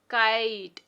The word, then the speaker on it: kite: सो क आइट, kite, and e here is silent.